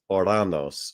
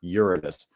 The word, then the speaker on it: Uranus: articles about Uranus because this the one's pronunciation is Uranus originally, the sky god, or Uranus. But how does the average normie? What does a normie say? Right? They go, "Oh, Uranus, Uranus, Uranus," right?